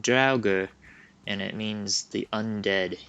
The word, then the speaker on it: Draugr: they're pretty scary and it's it's pronounced i think like drauga and it means the